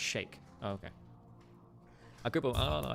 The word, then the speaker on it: Sheikh: supported, I guess, but it's not Sheikh, it's pronounced Sheikh.